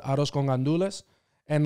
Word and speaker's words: gandules: And like the it's like they're granduls when you read it. It's right. Grand, but like I learned that like we pronounce it in my family, gandules. Like we don't even say the R.